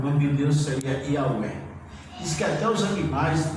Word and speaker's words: Yahweh: Mas o tetragrama, o nome de Deus, uma pronúncia mais ou menos é Yahweh, né? O nome de Deus seria Yahweh.